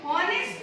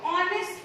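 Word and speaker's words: honest: हम लोग हॉनेस्ट नहीं प्रोनाउंस करते हैं, हम लोग इसको ऑनेस्ट प्रोनाउंस करते हैं। ऑनेस्ट यानी स्टार्टिंग क्या है, ओ, ठीक है।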